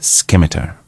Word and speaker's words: scimitar: He first called for my scimitar.